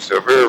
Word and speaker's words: Sevier: They pronounce it different. Severe.